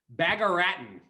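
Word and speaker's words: Bagaraatan: one doing great next bagaratin bagarat latin can you spell that one too yes i can bag like bag bag so b-a-g a-r-a-a-t-a-n bag of rattan i'm gonna i'm gonna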